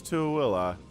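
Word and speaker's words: Tooele: into willa which yeah that's how you pronounce to willa everyone it's not thule it's to willa there are some weird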